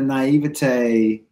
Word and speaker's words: naivete: out oh oh oh like naive with an ity at the end naivete naivete I don't want